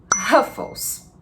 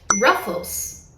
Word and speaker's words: Ruffles: Nos Estados Unidos, você vai ouvir Ruffles. O que estamos pronunciando de diferente aqui? Basicamente é o som do R. Em inglês, esse R, como eu poderia dizer, ele é mais puxado.